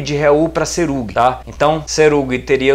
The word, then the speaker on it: Serug: no hebraico, aqui ó, o Shin com o ponto na esquerda é som de S mesmo, então seria Serug, que a sílaba tônica ou a consoante tônica tá no R, né?